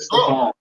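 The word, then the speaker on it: Stefon: Like his name is actually Steve, but he pronounced it Stefan.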